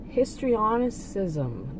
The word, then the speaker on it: histrionicism: Okay, I did look that up, and it seems like it's histrionicism. The C is pronounced as an S.